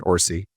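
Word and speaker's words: Orci: Because I'll tell you later when I was at DreamWorks, I was uh executive vice president with Curtsman Orsy, which is how you pronounce Bob's last name, right?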